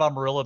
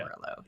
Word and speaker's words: Amarillo: Like, I just like making fun of Amarillo because nobody in Texas pronounces it correctly, and if I say that, everybody in Texas will say No, we do no.